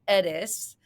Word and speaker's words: Ediss: of your last name Dr. Edis like as in Thomas Edison of course you know from our famous um quotes about the doctor of the future.